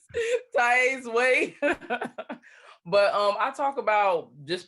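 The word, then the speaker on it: Taiye's Way: So it is Tai's Way. It's TAIYES. Well, YE apostrophe S. Okay. Way. And did I spell that right? TAIYE. Yes, Tai's Way.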